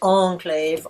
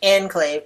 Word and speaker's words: enclave: first word is that he says Enclave with a long syllable on the second and in English we stress that on the first syllable either using the French onclave or the English Enclave both of which are acceptable pronunciations so that's one of